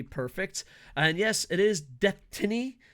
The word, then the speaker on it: Deathtiny: And yes, it is Deathtiny. It's Destiny with the word death in it.